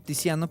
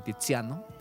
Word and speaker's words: Tiziano: C se pronuncia como Che, pero la Z se pronuncia como S.